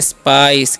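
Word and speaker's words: spice: है एस पीआई सी तोसे हम लोग पढ़ते हैं स्पाइस क्या पढ़ते हैं जी स्पाइस जब सी रहेगा ना उसका चा स करना है ठीक है और इसे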